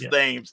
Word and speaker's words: Thames: for one summer uh one of the main streets was thames you know you gotta learn how to pronounce it the way the locals do like you know so you don't stick out so it's names and i'm like sure